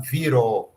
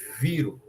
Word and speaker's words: viro: Aí a gente não fala viró, fala viro, viro, viro, né?